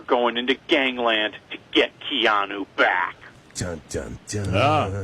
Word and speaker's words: Keanu: Is it Keanu or Keanu? Keanu. Yes, Keanu, the story of the